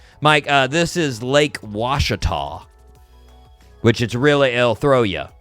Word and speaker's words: Ouachita: Like, Mike, this is Lake Ouachita, which it'll throw you. It's spelled Ouachita, but it's pronounced Ouachita.